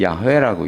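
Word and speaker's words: 야훼: 요거를 우리는 야회라고 읽습니다. 야회 이렇게 읽어요. 야회. 그리고 영어 발음으로는 여호와라고 읽는 거예요.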